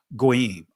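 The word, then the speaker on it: goyim: And again, nations, gawyam, and and in the Israeli tongue is pronounced goim.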